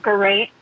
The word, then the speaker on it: Geraint: Geraint. Oh, Geraint. Geraint. Geraint. Geraint. It rhymes Okay, with so it rhymes with pint.